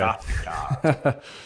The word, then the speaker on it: PechaKucha: correct me because I'm not sure I always say it right, but we call it our pechakucha. I think some other people call it Okay. pakataka.